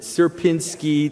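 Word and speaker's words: Sierpiński: Um uh so this is something called the suberski uh s how did you pronounce it? Serpinski triangle.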